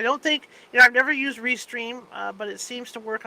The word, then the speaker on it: Restream: I don't think I've never used Restream, but it seems to work almost the same way StreamYard does.